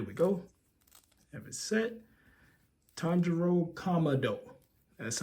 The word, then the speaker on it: Tanjiro Kamado: in yep there we go have it set Tano commo that's how you say it me make sure